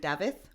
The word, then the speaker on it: Dafydd: He was Welsh and he was called Davith, which is spelled Dafydd.